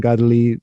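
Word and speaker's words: Kateri: that is, that's Saint Catary. Yes. But you use the Mohawk pronunciation, Gadali de Gaguitha.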